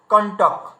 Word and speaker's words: কণ্টক: তাহলে এই যে ক এর উপরে বিন্দি ট ক, এটাকে আমরা বলছি কেমন, কণ্টক, মানে এখানে দেখুন এই মূর্ধন্যর সঙ্গে ট এখানে যুক্ত হয়ে গেছে, তার মানে ওই বিন্দি চিহ্ন, এই বিন্দি চিহ্ন এই মূর্ধন্যকে সংকেত করছিল। আচ্ছা তারপরে দেখুন কণ্ঠ, এই